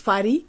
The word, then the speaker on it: FADÍ: beautiful thank you so my name is Fadi capital letters f-a-d-i with an accent on the I and I come from